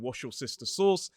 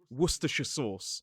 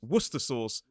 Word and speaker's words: Worcestershire: I have heard some viral videos saying wash your sister sauce. But the way we say this is wora sauce. Although a lot of people actually just say worcers sauce, which in my opinion is a lot easier.